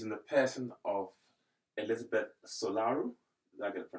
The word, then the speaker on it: Solaru: this conversation she's in the person of Elizabeth solaru did I get the pronunciation right yeah perfect okay so Elizabeth is